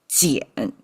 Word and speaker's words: 捡: And we started with jiǎn. It's pronounced still as jiǎn.